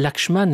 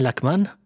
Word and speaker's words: Lakshman: Tu appelles Lakshman Lakman et Lakmi au lieu de Lakshmi.